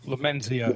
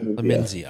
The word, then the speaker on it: Lumenzia: And I got, how do you pronounce that? Lumenzia? Lumenzia. Lumenzia.